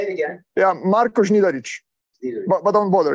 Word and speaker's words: Znidaric: The N is pronounced, right? Znidaric, yeah. N is pronounced. And this Z with a hat is Z. C with a hat is Ch.